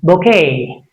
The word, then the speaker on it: bouquet: Bouquet.